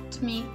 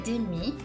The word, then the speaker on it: demi: mezza si dice et demi. Si scrive demi e si pronuncia, e sentirete che lo dicono demi, ok? Quindi la E in mezzo praticamente non si sente per niente e demi diventa et demi.